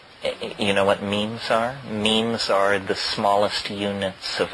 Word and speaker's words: meme: know what means our memes are the smallest units of a concept and they're like jeans the word is deliberately constructed to rip to rhyme with gene and so when I